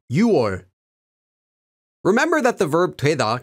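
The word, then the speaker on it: 6월: boiling hot note that uor meaning June is pronounced uor remember that the verb TWA can be used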